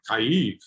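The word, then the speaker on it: Kyiv: calling it i mean cheap as i understand it at least according to google translate is the russian pronunciation the ukrainian pronunciation is like kaif so isn't it curious that russia claims that kiev is actually a russian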